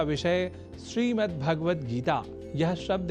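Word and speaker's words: श्रीमद्भगवद्गीता: जैसा कि मैंने उच्चारण किया, श्रीमद् भगवद गीता, जिसे अनवधानतावश हम श्रीमद् भगवद गीता या श्रीमद् भागवत गीता या भागवत गीता कर जाते हैं, जो सर्वथा अशुद्ध है।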